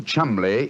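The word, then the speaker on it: Cholmondeley: had no reason to know that the name chambley is in no way pronounced the way it is spell but you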